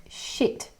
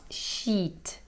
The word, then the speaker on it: shit: notice how i said shit it's a very short sound shit it's not sheet sheet is something you